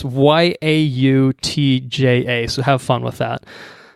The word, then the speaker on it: Yautja: The Yautja, I think is how it's pronounced. I think it's the creature's species. Yautja, I think. Yautja. Yautja. It's Yautja.